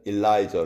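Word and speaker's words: Elijah: 비슷하죠 그 영어로는 완전히 이름이 달라요 영어로는 엘리야는 엘라이저 아고 발음을 하고 엘리사는 엘리샤 이렇게 발음을 합니다 그러니까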